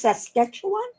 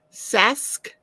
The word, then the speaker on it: Saskatchewan: got to get you to pronounce Saskatchewan. How did you say it? Saskatchewan. Saskatchewan. Sask. You forget the K is mostly silent. Saskatchewan. Well, it's the syllables.